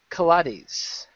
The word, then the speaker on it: Kates: Patrick hollahan and Chris Kates I don't care rhymes with Pilates I don't care either